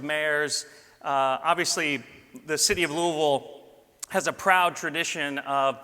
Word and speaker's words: Louisville: people here we go I said it right Louisville this kind of falls out of your mouth